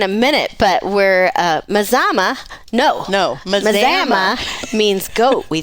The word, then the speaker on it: Mazama: cast we are in Mazama that's right Mama we're in Mazama M but Mazama Washington not don't be confused with Alama not maama it's Mazama that's right rhymes with pajama we yes and we